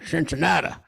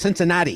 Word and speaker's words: Cincinnati: They go, oh, Cincinnati. There's the problem. No, it's Cincinnati. You got to do it. You got to say it right.